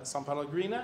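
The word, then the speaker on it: São Paulo: to the congregation of iglesia luthorana maria uh sao paulo i think is that that's how you pronounce it they did send people to receive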